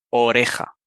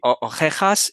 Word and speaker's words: oreja: y la J es decirles que pronuncien oreja m oreja y también ojera o sea orejas y ojeras Y si te fijas van a pronunciar las dos palabras si lo pronuncian mal van a sonar igual van a decir ojej y ojej van porque simplemente se